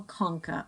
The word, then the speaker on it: concha: We also have the superior nasal concha on either side here. Remember that whenever you see CH in anatomy terms, it sounds like a K.